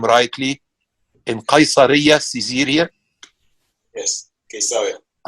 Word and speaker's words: Caesarea: In the house of Ezer Weizmann, I hope I pronounced the name rightly, in Caesarea, Caesarea. Yes, Caesarea. Could you say it again? Caesarea. Okay. Okay. From Caesar. Yes, that's right.